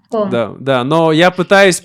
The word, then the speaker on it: Qom: Nó là Ghom, vâng, đại loại như vậy. Nó hơi giống, tôi liên tưởng nó với âm "g" trong tiếng Ukraina. Nó là Gom.